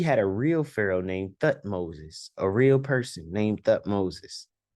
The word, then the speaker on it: Thutmose: But we had a real Pharaoh named Thutmoses, a real person named Thutmoses. Thutmose, not Thutmoses.